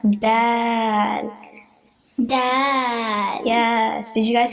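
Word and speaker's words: دال: First there's da, and then alif that makes it longer, and then lam. Dal.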